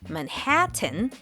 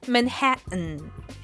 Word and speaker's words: Manhattan: Manhattan. Instead of pronouncing the T clearly, Manhattan, most Americans say it with the same stop. Uh-oh. Hatton. Manhattan.